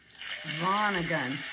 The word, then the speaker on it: Vonnegut: Vonnegut.